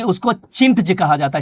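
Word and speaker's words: chintz: हिंदी में बोले तो चिंट। चिंट। ठीक है? चिंट कहा जाता है। छिंट आप पढ़ सकते हैं इसको। यहां हिंदी में छिंट लिखा हुआ है। वैसे चिंट इंग्लिश में प्रोनाउंस किया जाता है।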